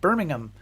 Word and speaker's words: Birmingham: And he has a PhD in history from the University of Birmingham in England, and that is the right way to say that.